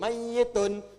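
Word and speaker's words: مَيِّتٌ: Makanya orang meninggal itu kalau belum meninggal kan mayit. Pakai tasdid mayyitun.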